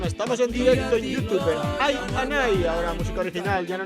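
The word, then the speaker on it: iAnai: Y por cierto que se dice Ayanay, que no se dice el Anay, ni Ianay, ni esas movidas, es Ayanay. Como cuando te jode un colega y le dices Ayanay, pues igual.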